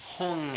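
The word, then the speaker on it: Hum: it's very extraordinary experience the pronunciation is Tibetan in this case even though the spelling would be spelled as if you were pronouncing it in the Sanskrit so it's om man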